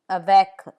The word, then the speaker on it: avec: C, like in avec, with, avec.